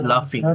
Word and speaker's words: laughing: The boy is not sleeping, he is laughing. He is laughing. লাফিং ইংরেজি কি? Laughing. এরকম তাই না? LAUGHING Laughing. LAUGHING, ঠিক আছে? আমার প্রোনাউন্সিয়েশনটা কিন্তু লাফিং হবে, বাট আমার স্পেলিংটা কিন্তু এটা লাফিং, ঠিক আছে?